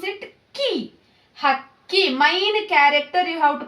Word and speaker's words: ಹಕ್ಕಿ: So key, you have to pronounce it key. Hakki, main character you have to pronounce hardly. Hakki. Hakki.